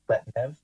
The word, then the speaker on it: Pletnev: Pletnev. So McGehee Pletnev. He's spelled P-L-E-T-N-E-V, Pletnev, but it's pronounced Pletnev.